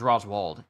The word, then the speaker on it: Roswald: Rosward. St. Charlos. So they say Rosward and Roswald. Yeah. Let me see this. Which is this? Rosward popularity polls. Okay, so it's Roswald. It's pronounced Roswald. Okay, thank you.